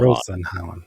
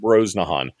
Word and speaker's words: Brosnahan: Okay, I cannot pronounce her name. Brosnahan. Brosnahan. Rosenhauen. Rachel Brosnahan.